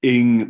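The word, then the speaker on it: Inge: 20th century william rafe ing my name rhymes with sting was a pupil of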